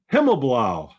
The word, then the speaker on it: Himmelblau: And today we're joined by Himmelblau. How'd I do? Good. You did better than I pronounced my own name.